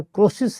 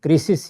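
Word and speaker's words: Croesus: جو وہاں کے حکمران، ہمارے ہاں تو اس کا تلفظ زیادہ تر کروسس ہے لیکن انگریزی میں کریسس ہی ہے۔ تو اس نے وہاں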